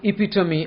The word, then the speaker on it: epitome: He is the epitome of a modern young man. A perfect example of a modern young man. Mind this pronunciation, please. Epitome.